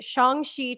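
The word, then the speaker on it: Shang-Chi: pumped i'm personally really pumped about this the shongxi trailer which by the way i looked at the pronunciation and i'm just copying feige so yeah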